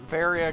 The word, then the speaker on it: Varia: to zebbs but uh but varia continues to be VAR it does make it